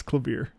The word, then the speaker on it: Klavier: It's clavier.